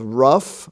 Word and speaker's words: rough: we find out that the F sound can also be spelled GH as in such words as rough r-o-u-g-h or cough c-o-u-g-h laugh l-a-u-g-h laughter with the GH